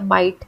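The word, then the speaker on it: might: ये है जीएच तो जब आप माइट पढ़ा तो आपने एमआईटी जैसा उच्चारण किया माइट तो उसमें जीएच का कोई काम नहीं था उच्चारण में फ्लाइट में भी जीएच का कोई काम नहीं था तो इन सारे शब्दों में जीएच साइलेंट था अब बात करते हैं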